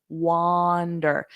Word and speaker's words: wander: Now notice my mouth position, wander. Your mouth opens a lot larger for wander, wander, wander.